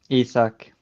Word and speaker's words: Isak: and Isaac on for or Isaac if you know whichever way you want to pronounce it yeah isak he said he said yeah he's been traumatized by you guys saying it wrong to him so it's it's